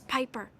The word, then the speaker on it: Piper: By the way, the name's Piper rhymes with Viper.